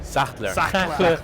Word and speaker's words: Sachtler: Sachtler.